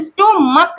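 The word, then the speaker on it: stomach: क्योंकि जब हम इसका प्रोनाउंसिएशन निकालते हैं तो स्टोमक निकलता है, स्टोमक, तो इसलिए इसमें एस ऐड होगा, ईएस नहीं ऐड होगा।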